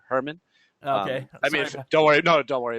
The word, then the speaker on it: Hoermann: having me on uh nobody pronounces my name right it's actually uh herman don't worry no don't